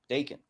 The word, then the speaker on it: Daken: have Dawan yeah absolutely daken Dawan D how do you guys pronounce it daon daon Bon like bacon with the D yep all right uh